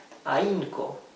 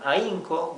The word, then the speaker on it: ahínco: Another case for mute H, this time in the middle of the word, ahínco, okay? This H is not pronounced whatsoever. This means effort, or con ahínco, which means diligently.